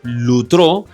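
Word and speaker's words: λύτρον: para redimir o redención son litro, que se pronuncia como lutro, y también apolitrosis, que se pronuncia apolutrosis.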